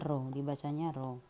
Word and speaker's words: rho: Rho ya, seperti huruf P tapi dibacanya rho.